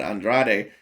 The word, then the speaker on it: Andrade: that is the correct way to say it Andrade you know uh when when it comes down